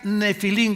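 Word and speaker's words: Nephilim: escribe en el hebreo, se pronuncia nefilim, como si fuera f de Francisco.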